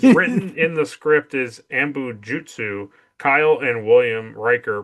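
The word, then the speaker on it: anbo-jyutsu: While it is written in the script is ambujutsu. Kyle and William Riker pronounce it as ambujitsu. Ambujutsu.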